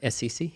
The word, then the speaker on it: Assisi: Saint Assassin, or how do I pronounce that correctly? Assisi? Assisi, yeah.